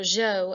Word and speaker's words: Zhou: and the Zhou Dynasty those are Jo as well pronouncing that the Shang and the Jo dynasties the Shang was the